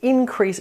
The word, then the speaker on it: increase: But if you want to turn it into a verb and increase something, the emphasis or the syllable stress falls on the second syllable. Increase, increase, increase, increase.